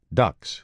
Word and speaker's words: DUKW: They labored from D-Day all the way through the battle with these vehicles called ducks, which were absolutely phenomenal, but very tippy, pronounced ducks, but spelled D U KW.